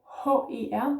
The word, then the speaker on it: her: The E becomes more E, her, almost like Mr., which we don't use much in Danish, but anyhow, her, yeah.